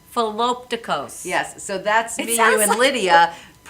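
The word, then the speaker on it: Philoptochos: Philopticos. Philopticos.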